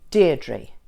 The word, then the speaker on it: Deirdre: How many syllables does my name have? Deirdre. 2 syllables. And where is the stress in Deirdre?